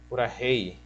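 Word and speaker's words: purahéi: É rei como se fosse literalmente os nossos dois R's aqui do português. O R do rato, da razão. Então você pronuncia como purahei.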